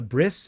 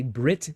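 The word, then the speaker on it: ברית: Eastern Europe, Ashkenazi Jews, the pronunciation of a final tav was s. So maybe you've heard of, so circumcision, it's a bris, it's from the word covenant. So we would say Brit today.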